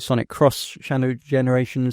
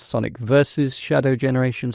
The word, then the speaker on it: Sonic X Shadow Generations: Also, maybe you could pronounce it Sonic Cross Shadow Generations, Sonic versus Shadow Generations, or I think the kids these days think it's cool to just not pronounce the X, so it's Sonic Shadow Generations. I don't know. Sonic X Shadow Generations is how it's written.